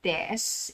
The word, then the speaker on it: desu: Take note, hindi ko pronounce yung U sa dulo, hindi siya desu, kundi des. Okay.